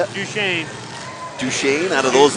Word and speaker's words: Duchesne: Number 111, Sam Golan out of Dutchness. How do you say it? Duchesne.